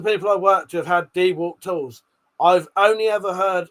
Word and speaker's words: DeWalt: Dewalt. Dewalt. Pete said, "I've only ever heard Americans say Dwalt." Uh though DeWalt sounds alien to me.